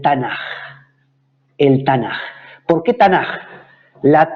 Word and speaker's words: Tanaj: Es una K que se pronuncia como una J en español porque va al final de la palabra.